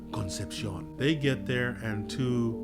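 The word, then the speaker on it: Concepción: says conception I imagined since it is a Spanish area it's pronounced Concepcion they get there and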